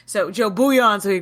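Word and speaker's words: Bouillon: nice is that how you say it the beond the um bu buan I'm sorry I've been saying it wrong so Joe buan so he' call him Joe soup so he's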